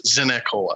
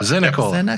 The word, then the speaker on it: Zinicola: There's another syllable in there. It sneaks in there. It's Zinicola. Yep. Zinicola.